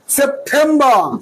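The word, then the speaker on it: September: August সেপ্টেম্বর সেপ্টেম্বর সেপ্টেম্বর না টেমটা হবে ঠেম সেপ্টেম্বর সেপ্টেম্বর সেপ্টেম্বর সেপ্টেম্বর October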